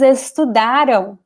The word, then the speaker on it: estudaram: And here the stress is ra. Tiraram. The end is very weak. The am sound is very weak because it's not important, it's not stressed. Estudaram. It's very weak.